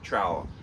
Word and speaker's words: trowel: a trowel all right rhymes with vowel aeiou trowel so yeah it's a